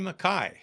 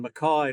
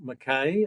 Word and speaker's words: Mackay: as I like to hear the way you pronounce it down under McKai right absolutely Marlon maai not McKay uh yeah Scottish to sent so you've got